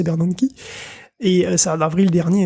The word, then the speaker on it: Bernanke: On se souvient du scandale du projet Bernanke, bien protégé, voilà, c'est Bernanke, mais bien prononcé Bernanke.